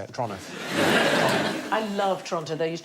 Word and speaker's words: Toronto: My other half is Canadian, and everything seems to be pronounced a little bit faster than it should be. So it's Toronto, not Toronto. Oh, is it? Toronto. Toronto. Like, as quick as you possibly can, like it's a crime to say it.